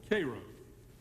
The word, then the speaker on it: Cairo: you will get to the wonderful town called not hope called Cairo the uninitiated use its Egyptian pronunciation at some point in